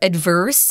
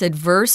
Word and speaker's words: adverse: They're all adverse or adverse. You can pronounce adverse or adverse. They're both correct.